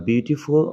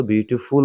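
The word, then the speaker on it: beautiful: চলাফেরা ঠিক আছে তাহলে বিউটিফুল বিউটিফুল কোন কাজ বোঝায় না আচ্ছা আবার আরেকটা উচ্চারণটা বলে দেই এটা আমি বারবার বিউটিফল বলতেছি আসলে আমরা অভ্যস্ত বিউটিফুল বলে কিন্তু উচ্চারণ হবে বিউটিফুল ঠিক আছে নট ফল আবার বিউটিফুল আচ্ছা যাই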